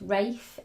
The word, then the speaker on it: Ralph: Traditionally, Ralph can also be pronounced Rafe in Britain, and it really does have a fascinating history.